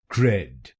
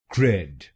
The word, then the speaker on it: CRED: Its correct pronunciation is cred. cred. This word has only one syllable, and it 's a complete word.